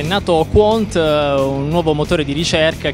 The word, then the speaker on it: Qwant: Beh, intanto bravo che l'hai pronunciato nel modo corretto, si pronuncia Quant. Molti purtroppo sbagliano.